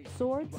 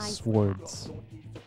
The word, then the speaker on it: swords: For example, swords can be used to do slash attacks, while bows are used to do pierce attacks. Yeah, she doesn't pronounce that word right. It's swords.